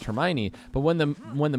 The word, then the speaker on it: Hermione: they told me that the name was pronounced Hermione but when the when